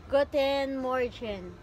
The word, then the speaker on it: Guten Morgen: Renee, what is the real pronunciation of good morning? Guten Morgen.